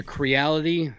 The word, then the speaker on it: Creality: we are getting it's called a a creality uh it's it's spelled c a like reality but with a c Ender 3 Pro yeah